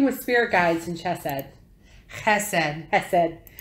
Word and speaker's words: Chesed: Chesed. It's Chesed. You have to pronounce it with the Hebrew pronunciation. It's like, no, it's not a hiss. It's guttural. It's chesed.